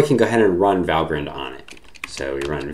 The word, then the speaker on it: Valgrind: it turns out there is and it's called valgrind just to note on pronunciation if you see it written it looks like val grind but it's pronounced valgrind okay so here's our